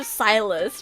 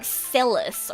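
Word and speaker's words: Sylus: At first I thought it was like sillus or something cuz it's spelled s i l u s. But it's it's silus. It's it's fate. I know. He's called silus.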